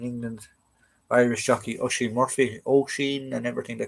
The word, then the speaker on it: Oisin: Oisin and everything they call him, it's Oisin. Tig is another one they can't pronounce.